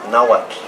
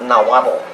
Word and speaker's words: Nahuatl: the idioma Nahuatl, not Nahuatl, Nahuatl. If you want to know how to say the TL para pronunciar el TL en Nahuatl, hay que poner el puntito de la lengua detrás sus dientes superiores, así.